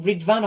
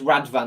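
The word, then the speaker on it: Rıdvan: the second is or is it ridwan or is it rad van I think it's rad van the Turkish pronunciation pronunciation so it's Ryan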